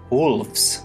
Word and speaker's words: wolves: Well, try to pronounce wolf with an S at the end. It sounds kind of like a V, doesn't it? Wolves, wolves.